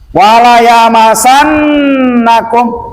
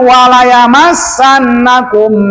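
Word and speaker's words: وَلَيَمَسَّنَّكُمْ: Nah, kum di sini dipanjangkan dikarenakan mim mati ke depan ada huruf mim. Namanya adalah idgham mislain sogir ataupun idgham mimi, boleh. Jadi walayamassannakum minna, tuh bacanya. Jadi jangan walayamassannakum minna, hati-hati.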